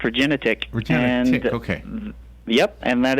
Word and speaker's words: Regenetiq: I hope you are I like the name regenetic am I saying it right that is correct regenetic retic okay yep and that is that is